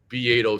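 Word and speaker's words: Beato: Bedo spelled like beatto o be a t- o and I see like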